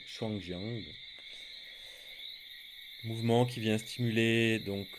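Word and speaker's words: Shuangjiang: des centres du givre en chinois prononcerons shangien mouvement qui vient stimuler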